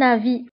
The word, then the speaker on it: avis: À mon avis. فهذه العبارة تستعمل كثيرا في التعبير عن الرأي. À mon avis تعني في رأيي. في رأيي. À mon avis. وانتبهوا هنا، avis تكتب بS في الفم ولكن لا تنطق.